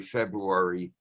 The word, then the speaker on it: February: showing up in January, February, preserve both R's. It's from the god February. You need that first R.